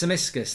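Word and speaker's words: Tsimikas: It's Samiskas, thank you very much. Simicas.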